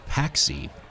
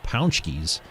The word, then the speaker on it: pączki: tried to make a joke about eating rat paxi, but the Polish heartthrob was very disgusted by this intentional mispronunciation of the yummy Polish treat pączkis, and he used his anger to come away with the victory.